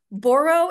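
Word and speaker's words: boro: new Direction which is is it borro am I pronouncing that it's borrow right yes okay now it means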